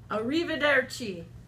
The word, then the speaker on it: arrivederci: Arrivederci.